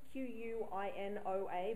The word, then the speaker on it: quinoa: we're using today it's a quinoa salad now quinoa is spelled q-u-i-n-o-a but it's pronounced quinoa so if you've seen